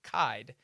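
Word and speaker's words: Kyed: but thank you Pete it's Doug kid rhymes with hide got it right the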